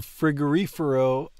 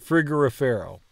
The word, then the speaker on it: frigorifero: Il frigorifero è vuoto. Frigorifero. Frigorifero. The way I'm getting past this to pronounce it correctly is emphasizing the reefer part of frigorifero.